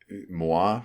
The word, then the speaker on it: Muah: Do you think that Muah, right? Is that how you say it? Muah.ai, yeah. Like a kiss?